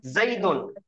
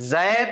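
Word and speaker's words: زيد: दा तो पेश, दुन, जई दुन। ये जैद तो हम उर्दू में बोलते हैं, लेकिन असल पढ़ना है इसका, इसका असल प्रोनाउंसिएशन है, असल इसका तलफ्फुज है जई, जईदुन।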